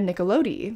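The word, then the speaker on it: Nicolodi: his long-term partner daria nickelode and every time i say her name i just want to do the like nickelodeon which if i may if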